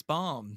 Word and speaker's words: bomb: t m b but no you throw a b in there it's not boom it's bomb it's bomb yeah this